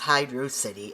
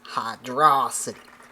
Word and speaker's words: Hydro City: When people pronounce Hydro City as Hydra City and that's what you sound like.